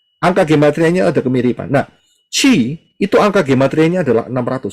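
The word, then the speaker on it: Χ: Ini adalah huruf Chi, tulisannya CH pembacaannya, tapi nulisnya adalah X seperti ini, bacanya Chi.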